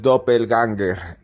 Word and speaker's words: Doppelgänger: en Cruz escribiente dopel ganger dopel genga así se pronuncia este extraño fenómeno que